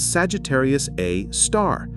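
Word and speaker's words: Sagittarius A*: In our own galaxy, the central black hole is called Sagittarius A star, pronounced as a star.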